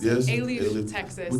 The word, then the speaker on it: Alief: Is that how you pronounce it? Yes, Alief, Texas.